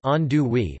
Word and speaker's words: andouille: The classic gumbo is made with chicken and the Cajun sausage called andouille, pronounced andouille, but the ingredients vary according to what is available.